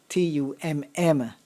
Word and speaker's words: tummler: You almost got it right. Tummler.